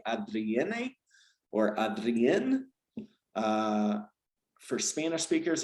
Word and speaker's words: Adrienne: Adrienne? Adrienne? Adrienne. Adrienne. In Spanish, looking at it phonetically, I would say Adrienne, but Adrienne. Yeah, most Spanish speakers that I work with will call me Adriana.